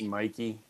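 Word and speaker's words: Mikie: And even Governor Mickey, is that how we say her name? New Jersey. Mikey. Hey Mikey. She likes like remember life cereal. He likes it. Hey Mikey, that's how you remember.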